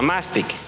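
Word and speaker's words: μάστιξ: esta palabra viene del griego mastic así se pronuncia mastic Y esto no solamente describe una enfermedad sino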